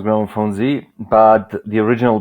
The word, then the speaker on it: Gramophonedzie: Globally, it is pronounced Gramophonedzie, but the original pronunciation, like from Serbia, is Gramophonedzie.